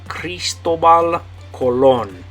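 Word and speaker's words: Cristóbal Colón: the name Christopher Columbus you say Cristobal Colon Cristobal Colon okay um so let's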